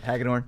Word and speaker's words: Hagadorn: Yep, Hagadorn.